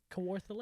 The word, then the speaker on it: Kawartha: at kawartha lake how do you say it kawartha kawartha lakes the most beautiful cottage super nice